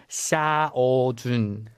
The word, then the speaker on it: Xiaojun: K: lol K: bc the Korean pronunciation is: "xia-ou-jun" K: like that X: they don't say